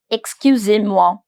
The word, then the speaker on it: excusez-moi: Excusez-moi. Excusez-moi. Excusez-moi. Excusez-moi. Excuser. Pronunciation of EZ is very much like E accent aigu. Excusez-moi. Excusez-moi. Do you remember OI, soir? Same pattern. Moi.